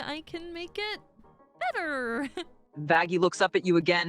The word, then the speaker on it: Vaggie: comes right okay hi baggie it's Charlie your girlfriend vaggy size it's vaggie not baggie and yes we are